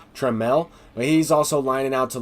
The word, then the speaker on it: Trammell: I know I've been saying his name is Trammell and I will go ahead and stop that because I realized his name is pronounced Tramel he's also lining out to left field as